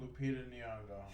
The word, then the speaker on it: Lupita Nyong'o: How do you pronounce this woman's name? Lupita Nyong'o.